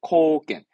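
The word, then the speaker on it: 貢献: 이게 우리말로는 공헌. 발음은 코겐. N운이 N의자는 주로 나옵니다. 이 단어면 거의 됩니다. 공헌하다. 코겐스르. 공헌의 코겐. 공헌의 코겐.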